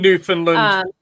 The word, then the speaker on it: Newfoundland: Newfoundland.